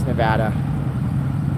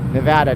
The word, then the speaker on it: Nevada: here in Las Vegas Nevada Nevada not Nevada okay it's not Nevada we made a license plate dang it say it right without people say that